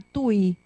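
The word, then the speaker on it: Tuy: cerca en una ciudad que se llama Tui. No, que no está escrito. Se escribe T-U-Y.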